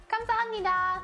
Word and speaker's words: 감사합니다: 감사합니다. Oh, I think I was pretty close. I think you were pretty close. 감사합니다. There you go. 감사합니다.